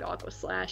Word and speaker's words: Aquaslash: appropriately named Aquaslash because that does rhyme with trash, which is what this movie is.